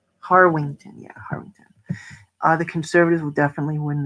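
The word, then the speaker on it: Harwinton: Wait, it's pronounced Harwington.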